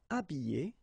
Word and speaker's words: habillé: Habillé, habillé, déshabillé, déshabillé. Okay, so you can see that here, this H here, this letter is not pronounced.